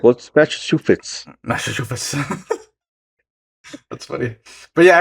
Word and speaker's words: Massachusetts: It's like just south of Cape Cod in Massachusetts. Mm-hmm. I feel like I have a hard time saying Massachusetts.